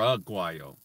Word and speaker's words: agua: but in Spanish it's rude while not or agua oh oh it's you are you and the use phonetic in Spanish so it's pronounced the same way every time it's not